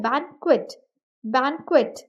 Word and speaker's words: banquet: भी आप नोटिस करेंगे बैंक्वेट को एज बैन और क्वेट प्रोनाउंस किया गया है जहां पर वर्ड को टू सिलेबल्स में डिवाइड किया है फिर उसको प्रोनाउंस किया गया है बैंक्वेट बैंक्वेट the third example is